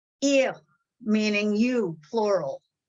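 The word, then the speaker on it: איר: So you had more hey in there for words like ihr, meaning you, plural. It was spelled with a hey, even though there's no hey in the pronunciation, no ha in the pronunciation, that has disappeared.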